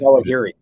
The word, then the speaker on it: Zawahiri: I can't pronounce his last name. It's Zawahiri.